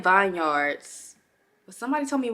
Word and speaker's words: Herbal Vineyards: video today's video is actually sponsored by herbal Vineyards hear me out I was saying Vineyards but somebody told me it was Vineyards then